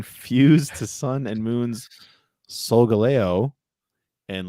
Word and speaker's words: Solgaleo: Can I at least ask, did I pronounce those two names correctly? Solgaleo and Lunala, yes.